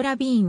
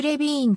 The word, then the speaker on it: Levine: 日本ではそのなおフランスも式に発音したジョーゼフレヴィ員という表記も見られるが本人はアメリカ生まれのアメリカ人でありフランス語との接点は全くないマサチューセッツ州ボストン出身